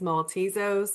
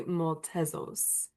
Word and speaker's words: Maltezos: Uh, well, I guess the English version is Maltesos, but the Greek version will be Maltzos.